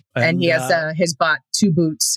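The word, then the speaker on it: 2-BOT: And he has his bot 2 boots. It's spelled the number 2 BOT, but they call him 2 boots.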